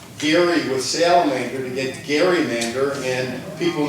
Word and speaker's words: Gerrymander: with salamander to get Gerrymander, and people not knowing his last name started to pronounce it with a hard G, and it became Gerrymander, and that's how it's been for the last 200 years.